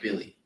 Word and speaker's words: Willie: It's It's spelled Willie. William. Billy. Is it really? That's how you pronounce it. It's Billy Hernan Gomez.